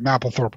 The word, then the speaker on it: Mapplethorpe: Maple's got two P's in it, bro. Mapplethorpe. Is it Mapplethorpe? Okay, Mapplethorpe. Yep, that is. So, yeah, you're right. Mapplethorpe would be the appropriate pronunciation.